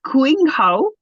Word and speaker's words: Qinghao: But so I think it's Qinghao, which means green herb in Chinese medicine.